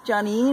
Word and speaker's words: Joneen: with johnny and um yes my name is johnny and you will find me on instagram uh my first name is spelt j-o-n e e n uh i got